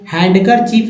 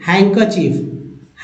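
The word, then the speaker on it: handkerchief: देखिए सैंडविच नहीं sandwich sandwich तो यहां डी साइलेंट है हैंड करर चीफ नहीं हैंकर चीफ हैंकर चीफ तो इन वर्ड्स को याद रख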